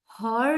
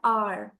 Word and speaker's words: hour: Okay, N आर, HOUR, नाउ सी H consonant है बट H silent है, हम उसको प्रोनाउंस नहीं करते, हम हॉर नहीं बोलते, एच साइलेंट है, हम बोलते हैं आर।